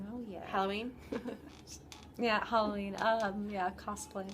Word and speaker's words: cosplay: Cosplay. Cosplay. I always say that wrong. I say cosplay, and people are like, no, it's like costume. It's cosplay.